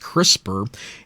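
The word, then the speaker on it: CRISPR: the acronym C p r i p is pronounced crisper and it is a system for editing DNA what makes crisper noteworthy is that it brings much greater precision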